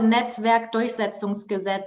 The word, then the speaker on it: Netzwerkdurchsetzungsgesetz: Please pronounce it for me. It's not because you were the first, right? It's called the Netzwerkdurchsetzungsgesetz, and it's just one word.